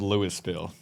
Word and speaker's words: Louisville: Like, I was just in Louisville and It's actually called Louisville. some bitch give me the alcohol. It's pronounced Louisville. Chase is actually right. It is Louisville.